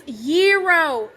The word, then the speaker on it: gyro: GZ, once and for all, how do you pronounce this word? Gyro. It's gyro.